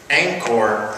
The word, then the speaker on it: Angkor: being in ankle and Angkor is spelled Angie Kor and you said fast it sounds like anger and there's an interesting